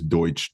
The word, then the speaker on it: Deutsch: was Pennsylvania Dutch and which is Deutsch German but they can't pronounce that there so um and my